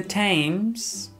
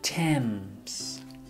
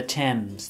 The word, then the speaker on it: Thames: see the river the river tames not the tames it's pronounced the Thames the Thames the River Thames okay so dirty river and